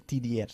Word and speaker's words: tidier: Tidier, tidier se escribe. Pero se pronuncia tidier.